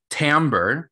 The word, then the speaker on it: timbre: marking periods this year timber that's t-i-m-b-r-e uh it's a i believe it's a french word which is why it's spelled so weirdly but timbre is the